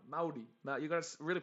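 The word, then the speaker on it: Māori: uh part of uh that's not maori is uh maori now you're gonna really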